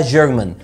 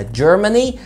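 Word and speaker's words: Germany: عندنا كمان المانيا، احنا بنغلط في نطقها بنقول عليها جيرمان جيرمان، دي برضو الجنسيه. المانيا اسمها جيرماني جيرماني جيرماني، واللغه او الجنسيه جيرمان جيرمان جيرمان.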